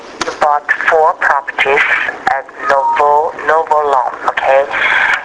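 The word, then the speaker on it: Nauvoo: yes you have you bought four properties at Novo Novo long okay how do you spell that now it's n a u v o o oh navu yeah that's correct uhhuh na long yes and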